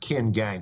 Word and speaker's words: Qin Gang: do you think Fred I think his name is pronounced Ken gang but I could be wrong I don't speak Chinese